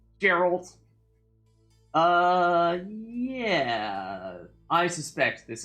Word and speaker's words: Geralt: be sarcasm zero here soft G on Gerald uh yeah I suspect